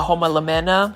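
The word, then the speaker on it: Homalomena: And then we have a homolemena.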